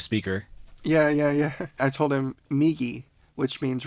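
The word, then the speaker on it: みぎ: I told him Migi, which means right, and Hidari, which means left.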